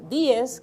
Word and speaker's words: Díez: Y en muchas familias del Ceibo, que era de donde ella provenía, Manuela Díez Jiménez, Díez, que es como se debe de pronunciar, ella dirigía realmente una